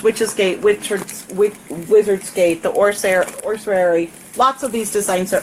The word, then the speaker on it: ossuary: Ossuary.